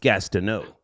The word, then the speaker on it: Gastineau: Yeah, well, it's pronounced Gastineau, just to be clear.